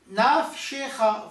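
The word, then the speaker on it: נַפְשְׁךָ: Le premier, il est muet, naf, parce qu'il ferme la syllabe, il est à la fin de la syllabe. Le second, il est sonore, il est na, il est prononcé, shecha, parce qu'il commence la syllabe, la deuxième syllabe.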